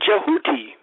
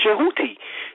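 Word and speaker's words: Djehuti: taken from the word Jehuti. Jehuti. And right, which it is spelled Talmudy, right, but it's actually pronounced Jehuti. So it's J-E-W-H-U-T-I, Jehuti. And sometimes they put the D in front of it.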